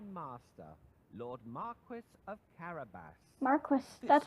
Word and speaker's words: Marquis: Marquis. This That's how you was a pronounce fancy Marquis, name or that that Puss word.